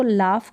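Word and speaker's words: laugh: यानी फ का उच्चारण हो रहा है, ये GH के लिए यहाँ पर फ हम प्रोनाउंस कर रहे हैं, लाफ।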